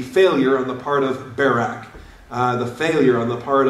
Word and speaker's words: Barak: on the part of Barak. The failure on the part of, or Barak, if you prefer that pronunciation, all right?